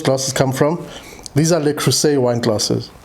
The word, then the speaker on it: Le Creuset: These are Le Creuset wine glasses. Le Creuset, sorry. The S in Le Creuset is pronounced like a Z.